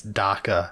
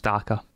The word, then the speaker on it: dakka: It's dakka. It's literally that in every single book. Yeah, nothing's gonna change it. It's dakka.